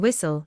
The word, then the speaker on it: whistle: The letter T is silent in whistle, castle, listen, fasten, soften, and Christmas.